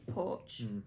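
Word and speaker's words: Poarch: Bella Porch. It's spelled weirdly though. It's like Paorch or something.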